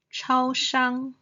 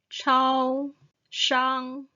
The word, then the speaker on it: 超商: tone 咖啡 coffee then 超商 the convenience store the first tone 超商 convenience store then mother